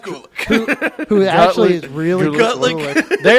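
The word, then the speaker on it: Gulak: accepts Lesnar's Challenge and by the way is pronounced Gulick it's pronounced Gulick who actually is really they are good who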